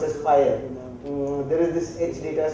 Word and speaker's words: FHIR: XL7 is very active, so they have a new standard called pronounced as FHIR.